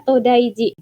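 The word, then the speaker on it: 東大寺: ketika sudah ada nama kuilnya diberikan jitera itu bacanya jadi Ji contohnya ada todaiji ini kuil today yang ada di Nara hai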